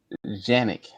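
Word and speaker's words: Canik: a Turkish company and the actual Turkish Turkish pronunciation is Janick like J A N I C like Janick. But I don't know how from a C they they get the pronunciation of a J.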